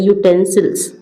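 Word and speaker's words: utensils: फिर है ये इधर 59 में यूटेंसिल्स यहां पे यू है लेकिन इसको जब पढ़ते हैं है तो ये वोवेल लेकिन जब इसको पढ़ते हैं तो ऐसे पढ़ते हैं यूटेंसिल्स। तो यू आ रहा है और ये जो यू होता है वो का से लेके ज्ञ तक की ज्ञ तक के बीच में आता है।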